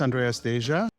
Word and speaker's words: Andreas Deja: My name is Andreas Deja. Got it.